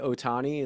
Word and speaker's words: Ohtani: going to say his name right, but Shohei Otani, is that how you say Shohei it? Ohtani, yeah, So he hit his first baseball home run.